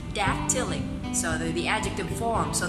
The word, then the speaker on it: dactylic: asked them to say dactylic. So the adjective form, so that they would remember that there are 3 syllables in a dactyl. Dactylic, dactylic. First syllable is stressed, dactylic.